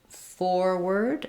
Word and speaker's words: forward: So these words start with first syllable stress. So forward and forwarded have the